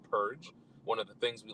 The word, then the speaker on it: PURG: for responsible government incorporated those initials spell out p-u-r-g we pronounce it purge one of the things